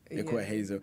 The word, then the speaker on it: Ekua Hazel: Did I pronounce it right? Yeah. Not Ekua. Ekua. Ekua Hazel.